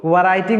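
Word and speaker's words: writing: राइटिंग आई एम राइटिंग इसको राइटिंग नहीं पढ़ेंगे डब्लू साइलेंट है इसमें राइटिंग हम लोग पढ़ेंगे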